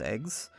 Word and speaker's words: AGWS: This game also brings back the gears, but relabels them as anti-gnosis weapon systems, or AGWS, pronounced eggs.